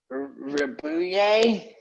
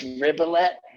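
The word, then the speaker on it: Ribot: Mark Ribuye. I think that's a Ribuye. It's pronounced Ribolet. I don't know.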